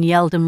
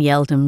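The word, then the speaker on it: Yeldham: The branch we're currently recruiting for is on Yeldom Road. I'm not familiar with that street. Could you please spell it for me?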